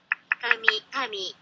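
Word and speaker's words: 紙: Kami.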